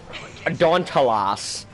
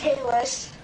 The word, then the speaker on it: Dauntless: You said it like Dauntalas or some shit. Dauntless.